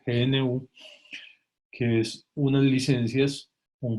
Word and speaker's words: GNU: De hecho, este sistema hace parte del GNU, así se pronuncia, GNU, que es unas licencias, un grupo de paquetes